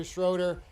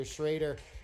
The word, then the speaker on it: Schroeder: in the house tonight some people say Webster schroer I've been told the correct pronunciation Webster shraer this should be a